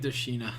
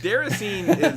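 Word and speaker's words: Déraciné: I think you pronounced it like Dashina. That was stupid. Deracine is how it should be pronounced.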